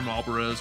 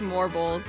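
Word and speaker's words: Malboro: fan, you know that these guys are Marlboros or Morbles or whatever the hell the pronunciation is. We decided it was Morbles. It's Morbles, so that's what they're called now.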